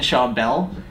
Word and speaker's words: Schawbel: really excited about this one we got Shaw Bell and you said it right I did say